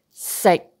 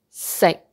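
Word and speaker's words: 食: Eat, when we say eat in Cantonese, sick, sick. Never pronounce that K sound sick. No, don't say all sick. We say sick.Sick, sick. It is a stop sound. You don't pronounce that k out, but sick, sick.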